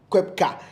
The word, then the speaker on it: Koepka: How do you pronounce this name? Koepka.